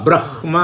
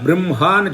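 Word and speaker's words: ब्रह्म: இது பிரம்மன்னு பண்ணணுமா அல்ல பிரம்ஹ அப்படின்னு பண்ணுவோம். எழுதும்போது முதல்ல ஹக்காரம் வரும், அப்புறம்தான் மக்காரம் வரும். அப்போ முதல்ல பிரஹ்மா அப்படின்னு சொல்லணுமா கேட்டால் இல்லை, பிரம்ஹ தான் சொல்லணும்.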